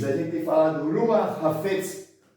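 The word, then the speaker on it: חפץ: Hafetz, essa é a pronúncia.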